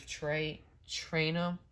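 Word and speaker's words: Trayanum: Chris Trainum.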